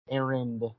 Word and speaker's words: Arndt: How do you pronounce his last name? Arend. Whatever. So Steve Arndt fucking blamed me for everything that happened on the show.